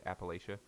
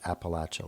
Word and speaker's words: Appalachia: at all um uh both pronunciations are fine um in that the people who are from that region more often pronounce it Appalachia like I'm going to throw an Apple at you yeah yeah uh um